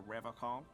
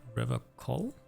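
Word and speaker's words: Revachol: innocent no you said Riv call I like to pronounce it the hard way the old way the vespertine way he Winks at you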